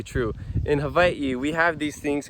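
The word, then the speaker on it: Hawaiʻi: most people pronounce it Hawaii or Hawaii but in Hawaiian language it's pronounced Hawaii so Hawaii is part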